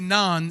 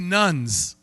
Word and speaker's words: naan: Alors, le terme, c'est naan, mais j'ai mal prononcé ça. J'ai dit nuns.